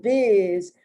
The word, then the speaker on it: biz: That S is pronounced like a Z. And biz, which is show biz, which is short and informal for show business, and the sound matches the actual letter Z.